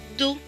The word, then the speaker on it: dos: et au dow et le s ici est écrit en bleu ne qui ne se prononcent pas donc ce monde va se lire d'où le dos le dos c'est bien maintenant nous